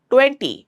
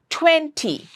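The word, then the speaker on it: twenty: T is a plosive sound. So don't say 20, it's 20. Again, another T.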